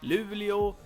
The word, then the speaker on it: Luleå: And the last thing I want to say is that we have a few cities Umeå Luleå Skellefteå and these are pronounced like this but I mean you have